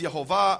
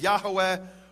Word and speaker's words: Yehovah: In fact, it says there in the Hebrew, Yud He Vav He, which I pronounce as Yehovah, others pronounce as Yahweh or Yahweh, and I won't go now into the reasons for those differences.